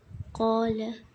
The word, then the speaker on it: قال: قاف الف پڑھتے ہیں، قاف الف زبر قا، اس کو ہم حرکت نہیں لگا سکتے ورنہ یہ حمزہ بن جائے گا، اور اگر ہم